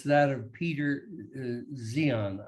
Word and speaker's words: Zeihan: It's that of Peter Zeihan. I think he pronounces his name. It's Zeihan. He's someone who has made a life work of studying, especially demographics and things related to the future.